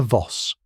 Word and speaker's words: Voss: Elena Voss, pronunciation Voss. Like boss with a V arrived first, her fur stole sweeping the floor, her eyes blazing.